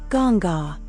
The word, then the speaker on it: Ganga: Primary domain cosmic order secondary domain wisdom transmission pronounced sarishi sacred rivers and life forces gonga a goddess from the Hindu tradition. Primary domain purification. Secondary domain sacred river pronounced Ganga Yamina a goddess from the Hindu tradition.